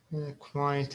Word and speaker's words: quiet: syllables pi two syllables quiet a two syllable word quiet is two syllables okay quite maybe quite quite one syllable uh look look at